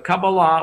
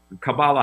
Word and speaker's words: Kabbalah: okay uh yeah yeah kabbalah or kabbalah however you want to pronounce it the the word itself